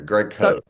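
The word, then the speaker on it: Greg Kohs: Um, can I start with is it pronounced Greg Co? Yeah, the filmmaker who made the original documentary. Greg Co.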